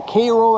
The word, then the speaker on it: Cairo: We're back in Cairo or Cairo as they pronounce it around here, Illinois.